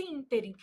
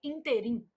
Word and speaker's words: ínterim: Então, nesse ínterim, a palavra íntere apresenta erro de prosódia. Erro de prosódia também é chamado de silabada. Então, a palavra interim apresenta erro de prosódia quando pronunciada como oxítona, que aí a pronúncia seria interim.